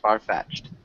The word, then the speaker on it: far-fetched: Maybe it's kind of like both are emphasized. So, it's almost sounds like two words. Farfetched.